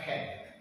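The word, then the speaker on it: חן: Kata kasih di situ dalam bahasa aslinya, bahasa Ibrani itu hen. Bacanya hen.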